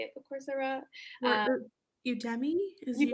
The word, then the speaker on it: Udemy: Or Udemy? Is Udemy? Udemy, yes, that's a good one.